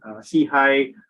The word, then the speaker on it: SIHI: are absolutely delighted to have you on board see hi I wish we pronounce it as c i stands for social